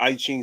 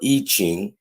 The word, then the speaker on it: I Ching: It said the I Ching or I Ching, pronounced I Ching, or book of changes.